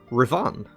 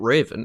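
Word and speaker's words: Revan: Ravan. It's not Raven, it's Ravan.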